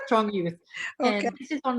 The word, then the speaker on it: Strong Youth: It's actually called Strong Youth, the project on Long Island. Because it had the period, so I thought you spell it out. That's how they spell it, but it's Strong Youth.